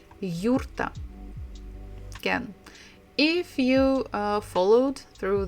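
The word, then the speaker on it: юрта: name of their houses it's called yurta in English we say yurt yurt but Russian almost the same yurta can if you followed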